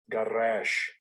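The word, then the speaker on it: גרש: Garash. Garash. So that's the pronunciation of that Hebrew word.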